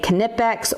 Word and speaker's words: Knipex: Now some people will pronounce the K-N-I-P-E-X, so they'll say Knipex or they'll say Knipex. It just depends.